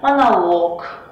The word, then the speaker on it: монолог: В неодушевленных существительных мужского рода, который заканчивается на лог, ударение всегда будет падать на последний слог. Например, монолог, каталог, некролог, диалог.